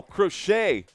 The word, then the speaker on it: Crochet: Oh, crochet. Thank you. It's pronounced like sewing. Thank you, Scott Wheeler. We've got Garrett Crochet up to bat and Scott Wheeler for the win.